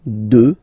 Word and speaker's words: deux: Deux. Final x not pronounced, okay? Deux.